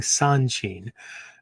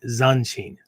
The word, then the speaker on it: Zanshin: of the mind, um, Zanshin. Right, and again, as I spelled it earlier on, right, it's not. I'm not saying Sanshin. Right? Zanshin, Zanshin.